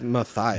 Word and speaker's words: Matthias: Matthias is what my Bible app says. There is an H in it. It's Matthias.